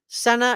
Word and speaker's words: Sena: could have headed across the border to Canada Senna is how you pronounce her say her name that's her last